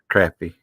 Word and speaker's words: crappie: I like pronounce it crappie. right. I pronounce it right. Crappy.